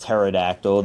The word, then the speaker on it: pterodactyl: I know it's pronounced pterodactyl. The P is silent.